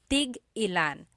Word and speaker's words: tig-ilan: So tig-ilan, when there's a hyphen in it, you have to have that glottal stop. Tig-ilan. That means how many of each. When there's no hyphen, tigilan, tigilan. It's just one word, tigilan. That means to stop.